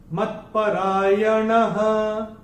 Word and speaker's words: मत्परायणः: और चौथे चरण की समाप्ति पे जो विसर्ग हमको दिखाई दे रहा है, विसर्ग का उच्चारण चरण की समाप्ति पे केवल और केवल ह ही होगा। मत्परायणः, ऐसे करके आएगा।